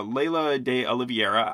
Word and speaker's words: Laysla De Oliveira: there Zoe Saldana uh Leila de oliviera I'm not pronouncing the s in her name because I think it's silent um it reminded me